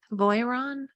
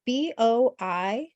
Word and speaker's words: Boiron: spell it? Voiron? Yeah, it's Boiron.